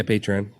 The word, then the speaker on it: Patreon: So, like, a funny story about podcasts, and I know, like, Patreon. Or is that a? Yeah. Did I pronounce that right? Yeah, Patreon.